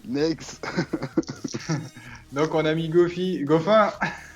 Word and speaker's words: Goffin: Si, c'est Goffin. Ah c'est Goffin, c'est sûr. Ouais. Ça se prononce à la française alors. À la belge.